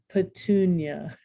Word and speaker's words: petunia: the accent that come the syllable that comes before ia is accented as in dyslexia begonia by the way these are often places and plants and diseases or conditions leukemia pennsylvania petunia super fun okay this